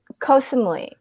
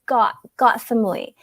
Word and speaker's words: Koh Samui: Yeah, actually, first time I said Koh Samui, and then Note was the one who's like, no, nobody, that's wrong. You don't say it like that. And then I'm like, well, how do you say it? And he's like, it's Got Samui. So that's the Thai way of saying it, because Got means island.